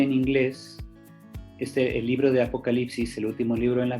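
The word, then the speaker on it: ἀποκάλυψις: En griego se dice apocalipsis, con acento en la A. Apocalipsis. Después de la L viene una Y, en lugar de I latina.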